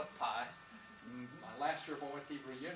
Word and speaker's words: pi: And I said, sure, it's something, P something. And she said, P? I thought you knew Greek. It's pi.